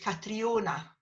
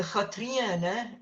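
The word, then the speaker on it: Catrìona: But a lot of people say in English, Catriona. So a Katriana is the way you say it in Gaelic, a Katriana.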